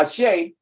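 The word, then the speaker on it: Àṣẹ: So you got Ashe. You got a dash there, but you ain't got to pronounce the dash. You say Ashe silently, give your breath.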